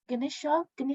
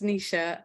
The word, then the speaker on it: Nisha: Ganesha, and one from Tam. Can we go Ganesha first? If I'm wrong, I'm sorry. No, that's okay. So my name's Nisha, and Nisha.